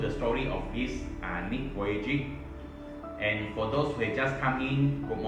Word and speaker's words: Vujicic: pronounce his name before last time i pronounced pronounce it as ouiji actually is pronounced as nick voyaging nick so i will